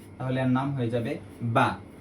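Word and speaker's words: ب: আমাদের যে নৌকাটি ছিল এই নৌকার নিচে যদি একটি ফোটা আসে তাহলে এর নাম হয়ে যাবে বা সঠিক উচ্চারণ হচ্ছে দুই ঠোট একত্র করে তারপর বলতে হবে যেমন বা আমরা আরেকটি 29টি অক্ষরের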